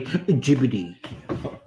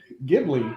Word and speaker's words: Ghibli: So Ghibli is fine because it's American. It's supposed to be technically Ghibli. Ghibli is the Italian pronunciation, which is where Miyazaki originally got it from. And then, yes, Ghibli for the Japanese because they don't have L's in Japan.